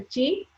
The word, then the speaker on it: Qi: the smooth flow of chi or blood, so which will keep us healthy. So what is this chi? Chi is Qi, which is pronounced as CHI, chi.